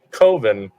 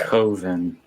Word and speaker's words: Coven: I have the Blu-ray, but as soon as I heard that coven was one of the bonus features, I had to pick up the 4K. Coven, not Coven. That rhymes with oven.